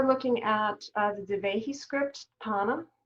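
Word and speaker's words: Thaana: You might enjoy looking at the Devehi script, Tana, that's spelled T-H-A-A-N-A, because it's also a remarkable rupture.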